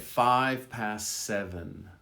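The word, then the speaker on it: five: We're leaving at 7:05. We're leaving at 7:05. Again, the V in 5 is barely voiced. It's very soft. Listen, we're leaving at 7:05. You almost don't hear it.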